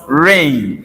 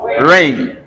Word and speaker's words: reign: This word is pronounced rain. Is pronounced what? Rain. Like someone ruling. Are you following? Right. During his reign.